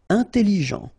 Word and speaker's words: intelligent: Intelligent. Final T not pronounced, so G-E-N, Jean, ok, intelligent, double L, it opens the pronunciation of your E, so it's E, intelligent.